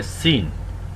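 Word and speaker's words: سين: এই হরফটিকে বলা হয় সিন সিন সিন ঝা যেভাবে উচ্চারণ করেছি সিন ঠিক সেই জায়গা থেকেই উচ্চারণ হবে সিন সিন সিন সিনেও একটু শীষ হবে একটু বাঁশি বাজানো হবে সিন সিন সিন সিনের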